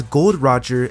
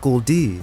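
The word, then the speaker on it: Gol D. Roger: we learned his name it's pronounced as gold Roger and not Goldie now with this you'd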